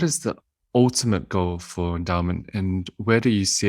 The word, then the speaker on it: Endaoment: So I mentioned at the beginning, Endaoment is spelled a little differently than you would expect it to be. Endaoment. We like wordplay, and that's part of the reason why DAO is in the word endowment, but it's more than that.